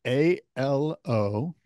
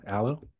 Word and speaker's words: Alo: it's spelled ALO. Alo? Oh, yeah, aloe. I don't know. Oh, yeah, see, you don't know aloe or alo.